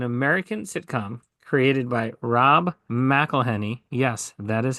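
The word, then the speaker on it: McElhenney: Philadelphia is an American sitcom created by Rob meleny yes that is how you say it and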